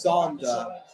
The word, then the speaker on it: Sander: No, that's not how you say his name. It's Sander, as in you're saying father.